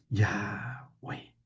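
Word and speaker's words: Yahweh: Yahweeh. Yahwe yonunciable, no se puede escribir. Sí. Yahvé o I w HW. Así se escribe en el en el hebreo.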